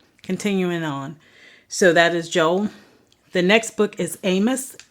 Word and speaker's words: Joel: of the Bible is Joel some I've heard some people say Joel but um it is Joel and Joel 2 when